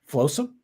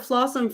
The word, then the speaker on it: Flosum: I have the correct pronunciation. Very good. Yeah. The first time I did that, I didn't do it right. You didn't correct me, but I didn't either. I called it Flossum forever because I was like, oh, that's Flossum.